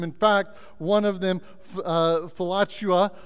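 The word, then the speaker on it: philautia: fact one of them falachua all right it's if you say it really fast you might sound like flatulence but don't say it like that all right um right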